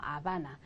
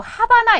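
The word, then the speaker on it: Habana: 다음에 나오는 건 말이죠 스페인에서 무금이에요 발음이 나지 않아요 보세요 아는 동네 이름이죠 그렇죠 라아바나예요 아바나 그런데 왜 이게 영어에서 미국 사람들은 이거 하바나 이렇게 읽잖아요 이게 이제 쿠바의 수도인데 하바나 그렇지만 스페인어로 하바나 아니고 뭐다 아바나다 라바나 라바 그래서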